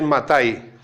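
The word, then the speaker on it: מתי: vas en hebreo, lees Matai. El Evangelio en hebreo, el Evangelio no es Mateo, es Matai.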